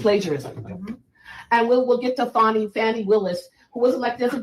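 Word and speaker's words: Fani Willis: And we'll get to Fannie Willis, who was elected as a DA in Fulton County. And that's the correct pronunciation.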